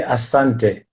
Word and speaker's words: asante: You say asante.